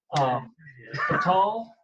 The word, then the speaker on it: Ca'tal: Qatar Talon, who is now currently the Alor'ad of Scyk Clan out of the Panhandle part of Texas.